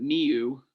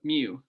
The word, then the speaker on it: mu: for the population and that's pronounced they give something weird here but mu so i don't know about miu but mu anyways uh your standard